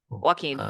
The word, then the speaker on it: Joaquin: Arthur flick oh sorry say his name sorry Joaquin yes yeah sorry I literally been saying that